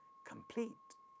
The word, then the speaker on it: complete: Second word, next word again has pa sound at the initial position of the stressed syllable, which is the second syllable, and the word sounds as complete, complete, complete.